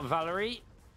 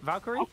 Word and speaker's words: Valkyrie: First blood picked up for Valerie. Yeah, Valerie. Is that how you say it? Valkyrie? Oh, there's a K in there, isn't there?